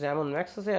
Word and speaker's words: Ramon Magsaysay: And Ramon Magsaysay Award, actually the pronunciation is Ramon Magsaysay Award in 1963.